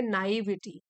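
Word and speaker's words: naivety: Synonyms हो गए purity, सो नाइविटी, ये जो वर्ड है इसको प्रोनाउंस करेंगे नाइविटी। नाइव से बना है नाइविटी, इसका मतलब हो गया इन एक्सपीरियंस, जिसको ज्यादा एक्सपीरियंस नहीं होता, तजुर्बा नहीं होता, भोला भाला होता है।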